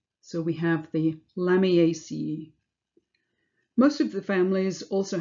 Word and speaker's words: Lamiaceae: All family names end in ace, which is pronounced as if you were spelling out the word ace, so ace. So we have the Lamiaceae.